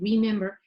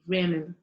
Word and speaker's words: remember: forward to reword reword another tendency in spanish speakers is to say the re as rey because we say for example play i know for example remember so instead of saying remember they say remember okay that's another common mistake and then we have